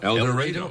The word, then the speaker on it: El Dorado: ktve TV servicing in El Dorado El Dorado no El Dorado oh boy I'm pronounced with a long a I've had instructions El